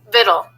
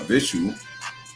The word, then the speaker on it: victuals: Viddle. Viddle. It says viddle, I guess. Not visual. Viddle.